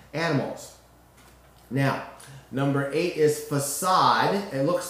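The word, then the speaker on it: façade: de but it's really a french word it has that little curlicue on the bottom of accents circumflex as my french teacher mom would say a facade which definitely shows that it has a soft c sound a facade is an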